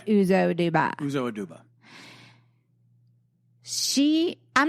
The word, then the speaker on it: Uzo Aduba: Uzo Aduba. Not Adobo. We got to cut this out. No. That's terrible. It's Uzo Aduba. Yeah. I said Uzo Adubo because Uzo Adubo, but it's Uzo Aduba.